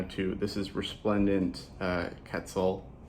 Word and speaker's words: Quetzal: Also for anybody who doesn't know how to, this is Resplendent Quetzal. So whenever you see Q-U-E-T like that, that is pronounced like a cat, like a K sound, not quet, not like a Q-U.